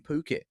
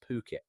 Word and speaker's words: Phuket: Pristine beachfront villa, maybe a sparkling swimming pool, all that tropical greenery, and it's in Phuket. And let's get that right from the start. It's P-O-K-E-T, pronounced Phuket. Definitely not Phuket.